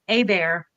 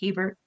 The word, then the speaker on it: Hebert: part of the world we pronounced my last name AAR the French version of it and so but um I think I'm the only one of the quilting world that pronounces that way I think everybody else is Hebert so we're just gonna